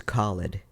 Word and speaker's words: Khalid: Yemen yeah and um my first name is Khalid it's spelled k-h-a-l-i-d and I used to wear use